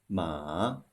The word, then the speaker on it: 马: Finally, let's compare two characters having very close pronunciations. One is the character for horse, 马, the third tone. The other is ma, the first tone. It means mom.